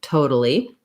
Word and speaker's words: totally: toe on your foot that's how we start with totally and then because this t is between two vowels and it's not followed by a stressed uh syllable it's gonna sound more like a d or a flap so i'll write it